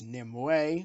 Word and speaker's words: Nimue: in the film yeah they do pronounce her as NIM way which you don't fine fine to be fair I'll give them that that is a better pronunciation of the name the amount of gore